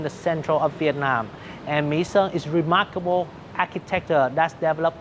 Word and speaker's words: Mỹ Sơn: one so of I'll, the most I'll correct my pronunciation. In Quảng Nam province. Mỹ Sơn.